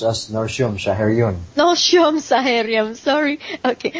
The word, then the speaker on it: Nortium: It is pronounced as Norium. Shaharion. Norium. Saharium. Sorry. Okay. Norium. Although it's spelled as N O R T I U M.